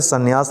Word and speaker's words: संन्यास: सी सन्यासी या फिर संन्यास लिखेंगे तो समय जो बड़ी है हटा देंगे कि संन्यास यह सही उच्चारण होगा ठीक है संसार कैसे